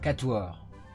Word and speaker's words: quatuor: Quatuor. Quatuor. Okay. Quatuor. Mesmo O, like in Portuguese.